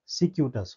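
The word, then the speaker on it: circuitous: जो स्पेलिंग है वह प्रोनाउंसिएट नहीं करेंगे। ठीक है? क्योंकि इसका करेक्ट प्रोनाउंसिएशन क्या हो जाएगा? सिक्यूटस।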